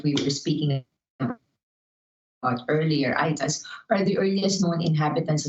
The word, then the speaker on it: Aeta: anthropological studies so the itas it's pronounced as i as in i what we were speaking about earlier itas are the earliest known